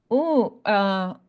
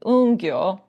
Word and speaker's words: Ungyo: But this is the other figure, and he is known as Ongyo. Let's see if we pronounce it correctly, Ungyo. And that's because Un is the last syllable in the Sanskrit alphabet.